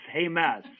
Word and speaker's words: James: Hames, but it's spelled James, but it's Hames.